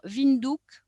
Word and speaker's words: Windhoek: On va parler maintenant de la capitale, Windhoek, en fait, qui se prononce, comme je l'ai dit tout à l'heure, Windhoek.